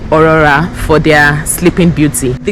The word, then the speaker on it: Aurora: short form is Rory the pronunciation think of authentic a u it starts with a u think of audacity a u so it is O Aurora Aurora Glory that's what's the